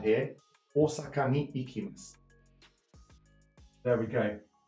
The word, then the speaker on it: Osaka: Mie-san wa Osaka ni ikimasu. It's a long O sound here. Osaka ni ikimasu.